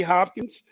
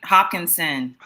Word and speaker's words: Hopkinson: want to thank natalie hopkins for allowing me to host the go-go build stimulus can you say her name right hopkinson yeah put some respect